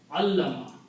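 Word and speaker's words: عَلَّمَ: So this will become allama. Middle letter twice, shadda.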